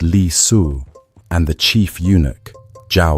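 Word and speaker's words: Li Si: His prime minister Li pronounced Li Su and the chief unic Jao Gao pronounced Jao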